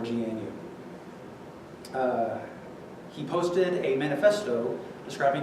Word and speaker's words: GNU: GM use nine innings I think some people i don't know if it's officially pronounced canoe I'm not have called it that because think that's not silly but you can press neither good new or GNU he posted a manifesto